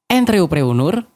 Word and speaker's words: entrepreneur: gimana sih cara bacanya entry honor kurang lebih dibaca n seperti membaca n dalam kata encok pengucapan huruf e seperti pengucapan huruf e dalam kata teman pengucapan huruf e seperti pengucapan huruf e dalam kata pesawat dan Nur dibaca seperti kata Nurani Apa bahasa Indonesianya entreoprenur